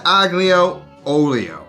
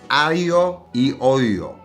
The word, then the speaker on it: aglio e olio: now it's not ago oio it's Alo eolo the g is silent so just drop it out of there you should be able